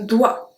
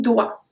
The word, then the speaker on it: doigt: Numéro 49, un doigt. Un doigt. So we don't pronounce the G or T. It's only doigt. D-O-I. That's all we pronounce.